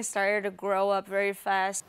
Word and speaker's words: started: E pronuncie esse D com som de ID. Started.